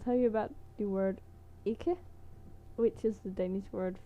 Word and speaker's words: ikke: Du vil gerne ikke. Like you go up, ikke. Du vil gerne ikke. Yeah, when you say it, when you pronounce it, you usually don't pronounce the last e and k in ikke.